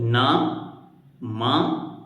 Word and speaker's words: नमः: बोल रहे हैं जैसे नमः शब्द लिखा है तो न म और पीछे दो बिंदियां ये दो बिंदियां हैं विसर्ग उसको बोलते समय कैसे बोलेंगे नमः तो ह का उच्चारण आएगा जैसे श्लोक नंबर दो